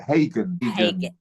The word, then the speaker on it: Hagen: Hagen.